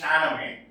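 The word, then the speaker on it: Shahnameh: So it is written this way, it is pronounced Chaname, which tells the mythical and historical condition or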